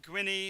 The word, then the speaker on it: Gwynny: Mary Gwynny, and they call her Quirky. Gwenine?